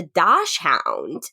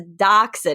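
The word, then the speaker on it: dachshund: and I go what the hell is a do Hound my friend Mike goes it's a docen rocky not a dashound but I I didn't even know that's how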